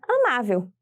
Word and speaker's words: amável: EA antepenúltima sílaba a sílaba tônica de amável é a sílaba ma e é a penúltima sílaba da palavra e por isso ela